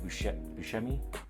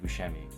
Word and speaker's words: Buscemi: Jeff Bridges and John Goodman, also starring Steve Buscemi. Hopefully that's how you say his name. Yeah, Steve Buscemi.